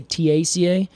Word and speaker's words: Theaceae: Theaceae? Yeah. Or I usually would say Taca Oh. and pronounce it as a t instead of a the.